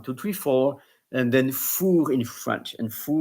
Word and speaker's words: four: English like one two three four and Then fur in French and f o u r like I was pinpointing in the song.